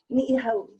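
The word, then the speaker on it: Niʻihau: Ni'ihau. Kauai. O'ahu. One more time. Everybody mispronounces that one, especially O'ahu.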